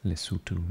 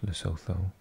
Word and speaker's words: Lesotho: Botswana, Lesotho, pronounced Lesotho, not Lesotho, as I used to pronounce it for years.